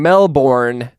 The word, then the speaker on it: Melbourne: to go to Melbourne which is the Australian way of saying Melbourne um I see what you did there yeah you like that that's that's how we Americans say it Melbourne well it's the it's the correct way of saying it we're just lazy and we shorten everything to Melbourne if your name's Steven